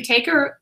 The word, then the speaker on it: Tako: But I am here with author Stephen TAKO. Am I saying it correctly? TAKO?